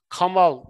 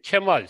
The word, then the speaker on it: Kemal: bir şey yok o Osmanlı'nın sesli harflerin okunuşu ile ilgili bir şey Türkçede bu Eğer Kamal değil de Kemal s nusrat diye bir